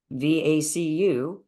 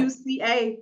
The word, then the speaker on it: VUCA: And going back to VACU, there are I said it wrong, but That's okay, but you got the letters. Yeah. VUCA, VUCA. Right, VUCA.